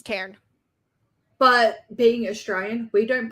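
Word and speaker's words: Tairn: to me it's just tan tane because I can't yeah yeah like like including the r I'll go tan but it's like the r and the N kind of make the word two syllables yeah well my mouth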